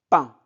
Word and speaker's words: pain: pour acheter acheter du pain donc I N A I N se prononce un donc du pain Dès le matin, les voisins se dirigent vers l'épicerie de monsieur Camal pour acheter du pain.